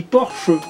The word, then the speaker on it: Porsche: Eh ben, vous savez qu'une Porsche, en Allemagne, ça se dit Porsche. Parce que ils prononcent le E, c'est pas comme les Français, mettons.